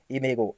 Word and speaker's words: imago: तब इसे क्या कहा जाता है, एक और अगली स्टेज आ जाती है इमेगो, IMAGO। इसकी स्पेलिंग भी आप मुझे कमेंट सेक्शन में लिख के बताएंगे, इमेगो।